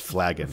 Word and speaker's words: flagon: is that the question is pronounced flagon wagon insurance not florene it's